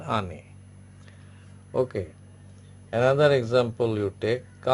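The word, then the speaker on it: année: E, that is, it becomes, E becomes A, pronounced like A. Okay, is it clear? Some other examples I am giving you. Say ane, ane, ane.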